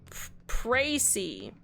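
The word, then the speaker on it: précis: It's French. It's pronounced as Précy.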